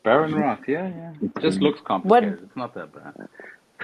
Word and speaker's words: Behrenroth: Behrenroth, yeah.